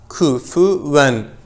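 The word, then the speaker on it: كُفُوًا: Arkadaşlar buranın telaffuzu biraz zordur. Kufuven. Ku yerinden çıksın. Fü üst dişler alt dudağa temas edecek. Ve dudaklar ileride olacak. Kufuven ehade.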